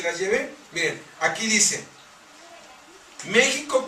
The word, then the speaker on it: México: Miren, aquí dice, México con X suave, como lo pronuncian los indios, significa donde está o donde es adorado Cristo.